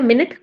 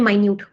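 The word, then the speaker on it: minute: तो होमोग्राफ का एग्जांपल क्या हो गया? मिनट एंड माइन्यूट। Spelling same है।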